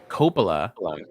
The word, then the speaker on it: Coppola: Coppola Yeah.